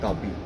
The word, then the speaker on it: Kapi: see the name Kapi, Kapi means coffee. यस Okay, it's a South Indian verbatim अच्छा wherein we say Kapi. Kapi. They pronounce coffee with Kapi.